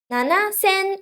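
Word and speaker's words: 七千: the answer seven thousand seven in two thousand seven is nana and thousand is ascent and then you add n don't forget to add n at the end okay seven thousand n nana sen and one more thing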